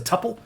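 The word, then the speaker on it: tuple: If I don't do that, it comes back as a tpple or tupil depending on how you pronounce it. I would I've always I've always heard it as tpple.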